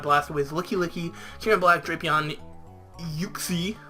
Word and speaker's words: Uxie: Liam's team consists of Infernape, Mamoswine, Whimsicott, Blastoise, Licky, Kieran Black, Drapion, Uxie, or as he calls it, Yuxie. I believe that's how he pronounces it, which I don't like that.